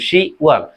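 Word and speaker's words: 시월: কি হবে 10 মাস, কিন্তু কোরিয়ান উচ্চারণে কি হবে শি ওয়াল, এখানে বটা বাদ যাবে।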